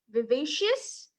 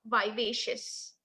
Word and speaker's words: vivacious: The correct pronunciation is vivacious and not vivacious.